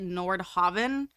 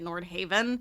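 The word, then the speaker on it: Nordhaven: caught me off guard they pronounced it Nord Haven whereas I think everyone else has been pronouncing it Nord Haven so that kind of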